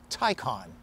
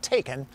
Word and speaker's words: Taycan: a public service announcement this car's name is pronounced porsche tycon all right tycon not taken that's a liam neeson